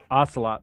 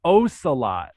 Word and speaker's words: Ocelot: So my name is Ocelot, not pronounced like the cat, Ocelot.